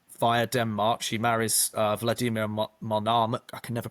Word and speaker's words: Monomakh: She marries Vladimir Monomakh. I can never pronounce that. Monomakh, yeah.